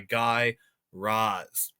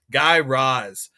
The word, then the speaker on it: Guy Raz: second episode of How I Built This by Guy Roz. Learned that's how you pronounce it. Totally incorrect last episode, but you know, we'll just forget about it. Guy Roz.